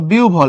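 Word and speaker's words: বিহ্বল: তাহলে তুমি লেখার সময় আহ্বান লিখবা, পড়বা আহ্বান, বিহব্বল পড়বা বিউভল। এখানে কিন্তু উ হবে, খবরদার, এটা ও না, এটা হলো উ।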